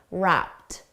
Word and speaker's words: wrapped: For pronunciation, notice wrapped. The ED is pronounced as a soft T, wrapped.